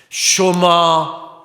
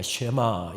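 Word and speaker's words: שְׁמַע: 쇼마 이스라엘, 이스라엘아 들으라. 쇼마라고 하는 말은 흔히 우리가 쉐마 이렇게 지칭하는데 정확한 히브리어 발음은 쇼마입니다.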